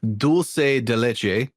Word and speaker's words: dulce de leche: And it is in fact Spanish and it's pronounced dulce de leche.